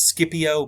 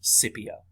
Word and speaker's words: Scipio: is publius cornelius scipio okay um many people pronounce his name as scipio but it's actually scipio he leads a roman army in spain okay